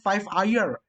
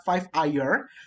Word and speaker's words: 5ire: dari tulisannya 5rx ya kalau baca aslinya itu adalah five air tapi kalau teman-teman susah bacanya mungkin gue bisa sarankan 5 jadi Eva jadi fair ya jadi api air gitu tapi cara baca sih pakai air jadi Fair ini adalah